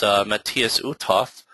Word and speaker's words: Matthias Uthoff: Also with us is Matthias Uthoff. I think I'm pronouncing that correctly, right, Matthias?